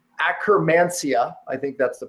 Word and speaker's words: Akkermansia: Notably, a microbiome called, and I won't even butcher it with dyslexia, but it's Akkermansia, I think that's the pronunciation, which is associated with obesity and diabetes, virtually disappeared.